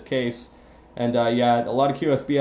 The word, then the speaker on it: Kees: And the name is Kees, Kilowatt Echo Echo Sierra, pronounced as Kees.